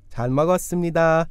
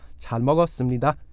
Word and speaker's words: 잘 먹었습니다: 잘 먹었습니다. Now, before we go on, let's get some pronunciation practice in here. I ate well. Or, thanks for a great meal. 잘 먹었습니다. 잘 먹었습니다. 잘 먹었습니다.